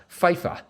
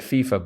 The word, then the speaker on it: FIFA: oversees the World Cup, FIFA. That is right. Actually, they may pronounce it FIFA, but I've got to make it rhyme with, or more or less, parallel fife, so FIFA.